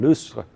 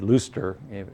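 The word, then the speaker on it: Lustre: a synchronous programming language called loose uh it's a french word looster if you pronounce it in english and it's the only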